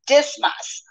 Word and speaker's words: Dismas: um in Rome and that name um is pronounced dismas a damus and it means um the sun